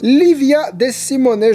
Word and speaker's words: Livia De Simone: Et je vais donner le nom de l'illustratrice Livia De Simone, je crois qu'elle est italienne, donc ça se prononce comme ça.